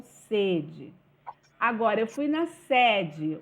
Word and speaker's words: sede: exemplo estou com sede o som do primeiro e ele é o qu ele é fechado sede estou com sede agora eu fui na sede o som do primeiro